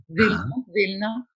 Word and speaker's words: Vilna: Enfin, je prononce en yiddish, mais vous aurez reconnu qu'il s'agit de Vilnius, évidemment. Vilna.